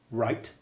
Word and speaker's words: wright: sight slight tight titan right cartwright playwright wayne right wheel right court daughter fraught taught the word right by the way with its silent w is an old english word for maker it is not used